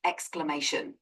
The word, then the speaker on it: exclamation: howon it that's pronounced exclamation it's broken down as exclamation explanation exclamation explan could you explanation how you say that again sure it's exclamation the emphasis is on the third syllable May uh I'm sorry